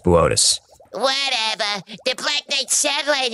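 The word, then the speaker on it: Boötes: Booties. Bootes. It says booties on the teleprompter. It's pronounced Bootes.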